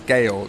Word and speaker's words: Georg: Pronunciation police, Georg. Yeah, well, I think that he's one of those guys who, when I asked him to introduce himself, said his name is George.